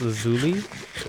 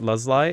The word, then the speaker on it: Lazuli: Hello, Redstone and Lapis Lazuli. Some people pronounce it Luzli. It's actually pronounced Lazuli, I believe.